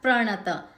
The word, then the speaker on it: प्रणत: भक्तामर प्रणत, प्र जोड़ शब्द है, प और र जुड़ के प्र बना हुआ है, सो और र ह्रस्व है, सो हम र पे भी जोर देंगे।